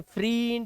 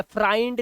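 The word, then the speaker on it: friend: होता है ठीक है लेकिन इसका जो उच्चारण होता है वो ए है ए फ्रेंड फ्रे ए फ्रेंड इसमें आई इ या इ का उच्चारण नहीं है इसे फ्रीड या या फ्रेंड या फ्राइंड नहीं बोलते स फ्रेंड बोलते तो उसका उच्चारण देखो ए का आता है एक वर्ड है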